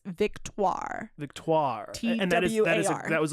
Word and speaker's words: Victoire: And I looked up the pronunciation and it's Victoire.